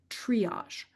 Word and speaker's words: triage: There's no pronunciation try in the spoken word triage as there is in trial.